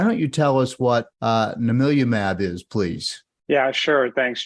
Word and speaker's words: Namilumab: Namilumab is a next-generation precision medicine. It's pronounced Na-Mil-U-Mab. I know it's a mouthful, but after we say it 100 times, we get pretty good at it.